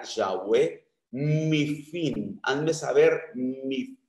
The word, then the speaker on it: Yahweh: mi lengua, hazme saber, Jehová, que la mejor traducción o pronunciación sería Yahweh, mi fin, hazme saber mi fin.